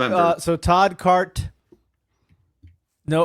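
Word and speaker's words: Carte: Apparently there's no O in the end. It's spelled with C A R T E. It's a silent e.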